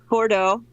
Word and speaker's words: Bordeaux: do we pronounce that famous French city b-o-r-d-a-e-a-u-x Bordeaux or Joe or Joe is that correct maybe yeah that's it Bordeaux Bordeaux wow so how did you know that